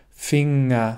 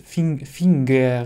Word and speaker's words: Finger: Zum Beispiel auch im Wort Finger. Du sagst nicht Finger, sondern Finger. Und ein großes Problem, das